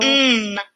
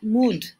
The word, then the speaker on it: mud: Pero cuando nos topamos con una palabra nueva, como por ejemplo, Mud. tendemos a pronunciar en español y un principiante diría mood, ¿sí? Sin embargo, esta letra suena.